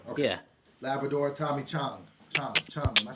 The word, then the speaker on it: Chong: Chong.